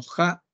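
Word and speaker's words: ja': el el agua no en maya se le pronuncia como Ja Y pues es es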